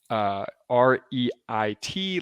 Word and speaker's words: REIT: end is concrete and that's spelled r-e-i-t like reit like real estate investment trusts there's a link in